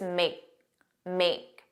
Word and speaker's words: make: And then make, you didn't hear that k, it was just make.